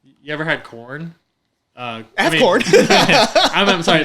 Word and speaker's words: Quorn: So, like, You ever had corn? I have corn. I'm sorry. The it's spelled QUORN.